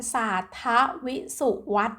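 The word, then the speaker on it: ศารทวิษุวัต: 1 วัน นะ คะ เรา อ่าน ว่า วัน สารท ทวิ สุ วัฒน์ นะ คะ ใน ปี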